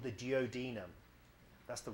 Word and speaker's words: duodenum: of the stomach no closed it's called the duodenum that's the right way to pronounce it i know you want to say duodenum but it's geodenum that's sure all right so it opens up